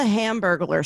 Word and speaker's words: Hamburglar: you say ham like it's like burglar like somebody who steals from you and ham at the beginning say it say hamburglar